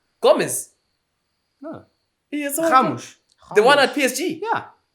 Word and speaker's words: Ramos: the R is it's a G in Portuguese. Oh. okay. But you look at the quality. But yeah, I think Ramos.